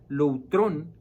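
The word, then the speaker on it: λουτρόν: Así que hay una palabra aquí que se utiliza que es la palabra loutrón. Ahí se las puse para que la vean. Ese es en el griego, así se pronuncia.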